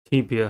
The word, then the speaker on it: tibia: The next word is tibia. Tibia has three syllables and the stress is at the first one. The first syllable is tip. T. E. The first sound of E I E Y.